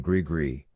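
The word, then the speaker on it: gris-gris: I grew up believing in Grigri, as well, only, up in the hills we set it to rhyme with kiss, stumpwater for warts, moss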